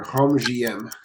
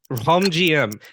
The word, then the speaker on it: Rhum J.M: you say how does how does it gets pronounced well with my congested nose it's gonna be easier home GM okay now home GM now if it was literally rum GM as